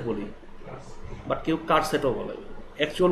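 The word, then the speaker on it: charset: আমরা চার সেট বলি, বাট কেউ কার সেটও বলে। অ্যাকচুয়াল উচ্চারণটা আপনি চার সেটও বলতে পারেন, কার সেটও বলতে পারেন। কার সেটটাই অ্যাকচুয়াল উচ্চারণ, চার সেট কোনো উচ্চারণ নেই।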